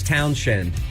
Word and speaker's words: Townshend: It's Townshend, not Townsend. No, it's not. Yes, it is. No. There's an H in there.